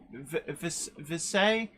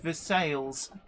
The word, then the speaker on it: Versailles: butcher time Town names visay Kentucky is pronounced Versailles locals will give you weird looks if you say this say precise surely yeah